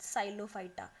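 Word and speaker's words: Psilophyta: तो what is इट, साइलोफाइटा, P silent है इसमें, लाइकोफाइटा, स्फिनोफाइटा एंड टेरो, इसमें भी पी साइलेंट है, टेरोफाइटा, ठीक है।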